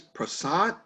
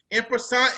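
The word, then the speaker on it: en passant: one uh i don't even know if i'm pronouncing it right what is prasant oh it's e-n-p-a-s-s-a-n imperson is a french word means in passing watch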